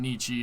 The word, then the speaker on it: Nietzsche: some sense yeah exactly it's pronounced nietzsche uh by the way